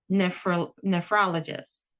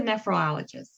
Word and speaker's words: nephrologist: So, a ne sound here, not nephrologist, but rather nephrologist. Then an emphasis on the... Got it. It's not nephrologist, it is nephrologist.